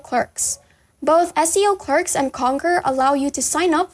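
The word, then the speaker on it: Konker: next website will be conquer which you may access by typing conquer.eo into your browser now that's spelled with a k not ac or a q it's k o n and k e r dot io and essentially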